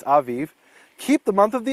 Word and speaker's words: Aviv: it a b but in Hebrew it's Aviv keep the month of the Aviv and do the Passover